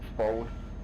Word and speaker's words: phone: But it's actually pronounced phon. So that's the difference, because PH gives you your F.